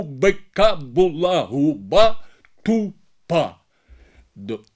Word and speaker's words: губ: в кінці оглушуються вони а в українській мові дзвінки вимовляються дзвінку оглушення не відбувається тому і Дуб і губ відповідно має в кінці слова цей звук виразно звучати Так Так А щодо